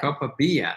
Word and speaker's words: copaiba: No, that's what she was pronouncing it, like Copaiba. Copaiba.